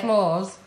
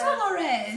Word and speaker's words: Flores: Well, it's better than what I say, pasta de flores. You're saying it right. It is Flores. Spanish Flores.